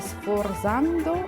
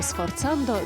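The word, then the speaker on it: sforzando: Айслу, подскажи, пожалуйста, как произносится, сфорзандо или сфорцандо? Сфорцандо. Это итальянское слово.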